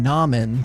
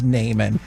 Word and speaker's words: Naaman: navigation when they're like, make a left on Naaman School Road? And you're like, stupid, it's Naaman.